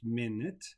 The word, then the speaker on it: minute: in 1 minute 60 minutes in 1 hour etc pronounced minute it's a time measure the other meaning and the other pronunciation is minute it's very very very small tiny very detailed okay the examination will